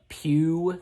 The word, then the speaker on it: Pew: He's pretty funny in this, and some of the other characters, like you have Blind Pew, that's how you say it, played by John Laurie, I think, yeah.